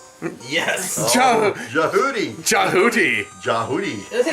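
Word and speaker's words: Djehuty: It is Jehudi. Yes. Jahudi. Jahudi. Jahudi. Isn't It rhymes with Jabooty.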